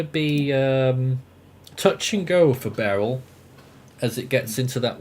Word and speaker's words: Beryl: Yeah, when I first heard about I can't even pronounce the name. Barely? It's only Beryl.